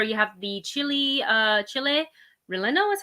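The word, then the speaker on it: chile relleno: the left there you have the chili uh chile relendo is how you say it empanada with pepper salsa and oh i can't pronounce that word cotija kotiha cheese but this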